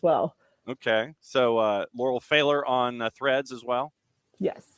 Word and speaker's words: Pfahler: l and I will say my last name's failer I should you at the beginning but hit